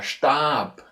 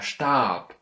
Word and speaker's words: Stab: Another one, if you have, for example, it in the ending, in the end of the word, you have, for example, der Stab, der Stab. And see, in the end of the word, this softness is getting lost. So this B is actually something like a P, yeah?